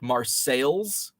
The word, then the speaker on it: Marseilles: after worldly cities like marseilles it's spelled just like marseille france but it's marseilles uh cairo down on